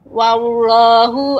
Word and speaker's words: Allah: Untuk Allah, pengucapan Allah itu tidak tidak terlalu lidahnya menekuk gitu ya, tidak wallah, tetapi wallah, jadi lidahnya hanya naik tebal gitu ya, karena huruf ini merupakan lafzul jalalah wallah, namun tidak wallah ya, jadi tidak lidahnya tidak melengkuk seperti itu.